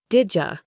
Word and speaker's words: did you: Did you becomes didja. Your turn, didja.